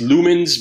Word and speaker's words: Lumen5: there it's from - pronounced lumens but the S is they use a five instead of a instead of an S so just be mindful